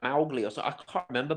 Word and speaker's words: Mowgli: Well, you got to pronounce it like Americans say Moscow, like Mowgli.